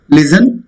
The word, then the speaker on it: listen: Listen. It's not listen. You all know very well. T is silent.